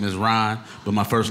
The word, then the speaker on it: Rahn: My name is Rahn, but my first name is spelled different.